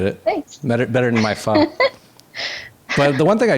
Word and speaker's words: pho: It's not pho for people out there. And it's actually pho. I'm sure I'm not saying it right, but I know it's not faux.